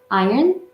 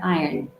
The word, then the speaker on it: iron: with the r and the other one is the British where in the r is kind of Silent okay um it doesn't